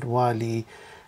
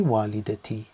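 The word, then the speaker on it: والدتي: So here, if we said walidatu, it'd be difficult to pronounce, but also it's wrong. So here it'll be walidati. Okay, so let's look at an example.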